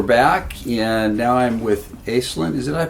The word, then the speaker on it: Aislinn: Okay, we're back, and now I'm with Aislinn. Did I pronounce that right?